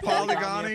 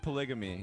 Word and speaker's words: polygamy: I said polygony at first, but it's polygamy.